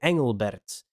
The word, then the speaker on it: Engelbert: ls then you would pronounce this if you read it in with our way of doing the eing g we say ang and not ang we would say angelbert that's how we would